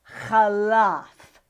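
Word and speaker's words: חלף: pay a final pay and you pronounce it khalaf khalafa and what this means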